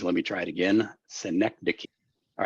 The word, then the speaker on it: synecdoche: So that is, let me try it again, Synecdoche.